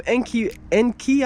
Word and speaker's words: Enkei: And like I just said, I was looking, and there's some Enkei, I believe is how it's pronounced, E-N-K-E-I, and they have some wheels that weigh about 42 pounds up front and 42.5 pounds in back.